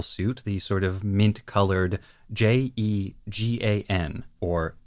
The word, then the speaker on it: Jegan: the sort of mint-colored Jegan, or Jagan. This one is decently straightforward. That's how I would naturally pronounce that based on the way it's written, and that matches the Japanese.